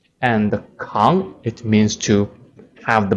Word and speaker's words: 扛: It has two pronunciations. The first one, 扛, 可, ang, 扛.